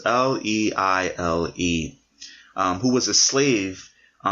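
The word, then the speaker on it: Liele: gentleman named George Leile, I believe his last name is pronounced Leile, who was a slave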